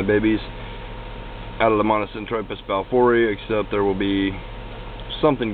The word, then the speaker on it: balfouri: Some say E, but it's pronounced balfouri.